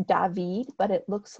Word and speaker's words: David: to clarify it's pronounced David but it looks like David and this is because he's French so this is the